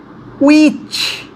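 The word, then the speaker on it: which: যেমন এটি উচ্চারণটা হুইস না, উইচ, উইচ, উইচ, okay, উইচ, হ আসবে না, অ উচ্চারণ আসবে।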